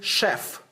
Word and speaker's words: chef: $225 okay now tell me uh who is Chef mhm just a cook okay so Chef we